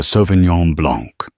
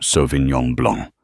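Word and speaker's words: Sauvignon Blanc: The Sovenon Blancc. She pronounced it with a hard flat G and an anglicized blank.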